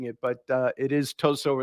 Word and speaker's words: Tosot: a convention I said toat it's just the obvious way of of approaching it but uh it is too at least that's how the Chinese pronounce it so I go with